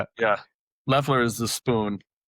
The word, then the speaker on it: Loeffler: It's It's Leler. Leler. Okay. It's spelled. So, everyone calls me and I don't I don't get offended at all.